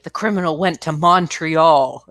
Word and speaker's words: Montreal: And it's not Montreal. It's Montreal. Montreal, like money.